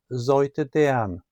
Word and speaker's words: Seute Deern: Sailship "Seute Deern" The name means sweet girl, in a Northern Flat German dialect, and is pronounced "zojte dean".